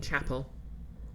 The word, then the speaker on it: chapel: make a part on how I keep pronouncing Chapel the English word that rhes with apple wait how have I